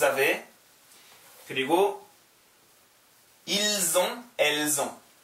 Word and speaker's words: avez: j'ai, tu as, il a, elle a, 여는, nous avons, 여는, vous avez, EZ 붙어 있으면 E 발음 나와요. Vous avez.